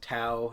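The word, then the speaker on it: Tao: t a o so obviously it's spell it's pronounced tau as everyone does in the movie yep the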